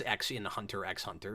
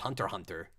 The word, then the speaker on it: Hunter x Hunter: really John Tai says you don't pronounce Axion Hunter x Hunter it's just Hunter Hunter that makes me wonder